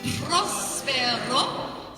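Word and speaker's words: próspero: Prospero. So you need to roll your R's. Prospero. If you can't roll your R's, then say prospero. Put an L there instead because that's closer to it.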